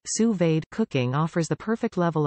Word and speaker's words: sous-vide: anywhere via your smartphone what to cook sous-vide pronounced sous-vade cooking offers the perfect level of doneness for